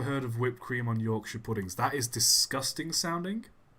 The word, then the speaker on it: Yorkshire: mispronounce English names because they always say Shire they it's not Yorkshire it's Yorkshire but whatever that's fine he